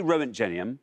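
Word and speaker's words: roentgenium: like the sound of it already and it's Rowan genium yes I think that rings a bell rent J rent well say rent genium yes and see what happens Rowan genium let's see how many people said that row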